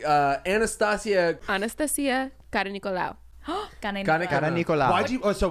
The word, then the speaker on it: Anastasia Karanikolaou: Anastasia Karanikolaou. That's how you say it.